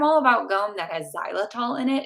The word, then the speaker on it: xylitol: Sugar free gum, I'm all about gum that has xylitol in it. It's spelled with an X. Xylitol.